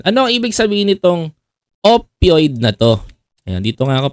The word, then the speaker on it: opioid: ko na nacurious ako Ano ano Ong pag pronounciation nito opioid opioid opioid opioid itong opioid opioid opioid yan ang pronunciation niya opioid Ayan Ano to Ano